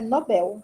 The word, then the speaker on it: Nobel: portuguesa a pronúncia é Nobel é por causa do l no final eu não posso pronunciar